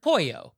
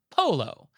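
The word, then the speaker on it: pollo: So, our next question is, quote, "Recently, while dining at a Mexican restaurant with friends, one friend ordered pouo, but pronounced it to the Mexican waiter as polo.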